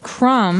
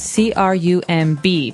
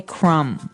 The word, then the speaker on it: crumb: everyone that the word crumb has a B on the end c-r-u-m-b but we don't pronounce the b we just say crumb yeah you don't say